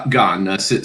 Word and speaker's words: Gane: Gane.